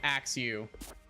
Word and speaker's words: Axew: Axew is 2 syllables because it goes Axew, whereas Cloth is 1 syllable because it goes Cloth, like just like a hard like stopping point. Like you would say Cloth, like the vowel doesn't break it apart like that. Whereas Axew would be 2 syllables.